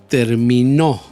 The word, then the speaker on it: terminó: termino y el último terminó ahí puse el de voz en la tercera sílaba término termino y término